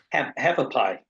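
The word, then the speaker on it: Hualapai: I'm sorry, I can't pronounce it, but how do you say that? Have a pie. Hapapai.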